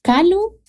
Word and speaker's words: Calú: ¿Calú? ¿Cómo? Es que pero todos me dicen Calú. Ajá, con acento en la U.